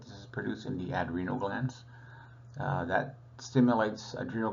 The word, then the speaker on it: adrenal: about the pituitary and the adreno I say adreno just to stress that it's on top of the renal glance it's pronounced adrenal uh and you'll just always hear me mispronounce